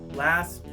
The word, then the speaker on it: last: So the first thing I want to talk about is the T sound at the end of the words last, adult, and threat. Now if you listen, there's not really a strong T sound there.